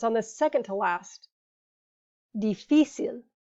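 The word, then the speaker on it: difícil: the second to last dificil because it breaks the rule a written accent is needed if the emphasis is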